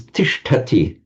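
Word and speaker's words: तिष्ठति: So instead of something like stati or stiety, which you might expect, it becomes tishtati. So tishtati, just a slightly irregular verb, but you can see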